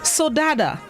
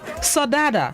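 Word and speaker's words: saudade: fits this morning's word of the day is sodada sadada it's spelt s-a-u-d-a-d-e it is a known which means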